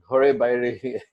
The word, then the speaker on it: Ghare Baire: Ghare Baire is the pronunciation. My pronunciation is in the West. Well, it's fine, but it's slightly different to how you said it.